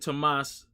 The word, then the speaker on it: Thomas: I have a friend named Tomas Morel, and his name is spelled Thomas, but it's Tomas.